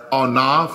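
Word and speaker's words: אנף: It comes from another word that expresses God's anger, 599, and it's pronounced as onaf or onaf.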